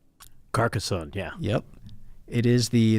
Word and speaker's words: Carcassonne: a shot and see if I can actually pronounce this correctly Carcassonne is that right Carcassonne yeah yep it is the the first of